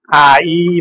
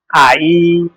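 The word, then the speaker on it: 아이: अब के भयो त यो चाहिँ आ सरी आ इ भयो है आ इ यसको उच्चारण कसरी हुन्छ साउन्ड पनि सुनिहालौ है त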